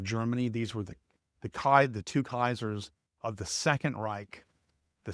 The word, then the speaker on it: Caesar: The actual way to pronounce that is, in Latin, all your C's are hard C's. So it's Kaiser.